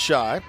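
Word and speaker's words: Schaich: Nick spells his last name, S-C-H-A-I-C-H, pronounced Shy.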